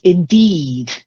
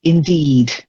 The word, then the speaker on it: indeed: Then the first one, Alexandra, is indeed. Long E. Indeed. Indeed. That's it.